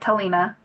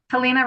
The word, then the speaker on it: Telina: And my name you say it Telina. Telina. Anyway, thank you. Yeah, Telina rhymes with Selena.